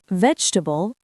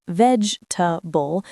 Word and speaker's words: vegetable: Vegetable, similarly, it's often veg-ta-ble, not veg-e-ta-ble.